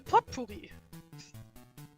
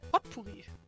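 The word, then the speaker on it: potpourri: collection of herbs right the pot Pui the what pot pory yes exactly the pot porri yes this was developed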